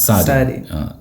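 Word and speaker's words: sardine: സാഡിൻ സാഡീൻ സാഡീൻ സാഡിൻ സാരിൻ സാരി ടിന്നിൽ എഴുതുന്നത് എന്ന് ഓർത്താൽ മതി സാഡിൻ ആർ ഉണ്ടാകും പക്ഷെ ഉച്ചാരണത്തിൽ ആറില്ല സാരിൻ എന്ന് പറയുള്ളൂ സാരിൻ സാരിൻ ഓക്കേ അപ്പൊ സാഡ് ആയിട്ടുള്ള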